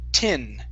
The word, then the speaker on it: tin: to the word tin let's use a short I sound so instead of te it's t tin try that a there